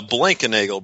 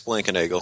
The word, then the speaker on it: Blankenagel: so let me introduce and can pronounce his last name for us yeah blankenagel blankenagel there it is I I don't know if